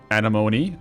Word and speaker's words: anemone: Anemone. Oh, and anemone. There, you pronounce the E on the end there.